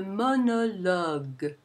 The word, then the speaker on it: monologue: Notice that the first two O's are somewhat intermediate, and the final O is the a sound, lug, because it has the g ending the syllable in word final position.